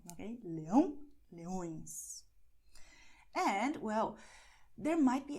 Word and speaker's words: leões: So you have the words leão, leões, leão, leões, lion, lions. As you see, in English it's a little nasal, but in Portuguese you go and, well, you will make it really nasal, okay? Leão, leões.